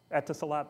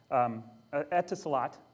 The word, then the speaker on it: Etisalat: I don't know how to pronounce it. Etisalat, thank you. Etisalat is a cell carrier in the UAE, the United Arab Emirates.